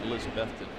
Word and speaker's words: Elizabethton: and elizabethton and that's how you say it elizabethton 3-0 with a 1.17 era well you know